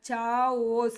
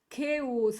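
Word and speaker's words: chaos: ಓಸ್ ಅಂದ್ರೆ complete confusion ಇದನ್ನ ಚಾಓಸ್ ಅಂತ ಛಾಯಸ್ ಅಥವಾ ಚಾಸ್ ಅನ್ನುವಂತ ರಾಂಗ್ ಕನ್ಸೆಪ್ಶನ್ ಇದೆ ಇದನ್ನ ನಾವು ಕೆಸ್ ಅಂತ ಕರೀತೀವಿ ಓಕೆನಾ ದಿಸ್ ಇಸ್ ಕೆಸ್ ಕೆಸ್ ಸೋ ಇಷ್ಟೊಂದು ಶಬ್ದಗಳಲ್ಲಿ ನಮಗೆ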